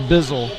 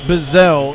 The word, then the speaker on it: Bizzell: I wanted to make sure I got the pronunciation correct. And she says, yeah, a lot of people say Bizzle. And then it was Fashizzle and all kinds of stuff came after that. But Bizzell, Grace Bizzell, she's 5'6" and a senior.